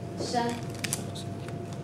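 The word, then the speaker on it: 山: Shan, su pronunciación es así. Con SH lo pronunciamos como sh, como inglés. Esta. Shan, A-N, como an, shan, shan.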